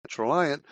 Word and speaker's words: Traliant: What is rhymes with compliant, Traliant?